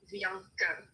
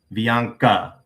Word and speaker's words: Bianca: Bianca. So the E is extremely short. Bianca.